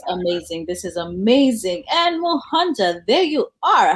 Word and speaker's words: Muhonja: And like you said, my name is Muhonja. Muhonja, that's how it's pronounced.